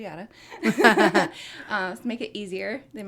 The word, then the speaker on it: Yata: so y a but pronounced like yada y yada um make it easier